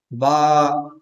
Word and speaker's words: با: تلفظ کی۔ دیکھیے گا، دیکھیے با کو واضح آواز کے ساتھ، صاف آواز کے ساتھ، بغیر جلدی کے ادا کریں۔ با، با۔ ہمارے ساتھ